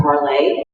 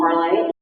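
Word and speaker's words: Parler: high-profile conservatives are on Parlay. So I want to encourage you, if you've not gone over to Parlay yet, that's a French term which means to speak. It's actually spelled like parlor, P-A-R-L-E-R.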